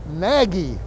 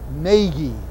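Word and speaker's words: Nagy: Oh, and incidentally, that pitcher that throws for U Cleveland, N A G Y, Bob Cases keeps calling him Naggie. It's not Naggie. It's Naggie. N A G Y.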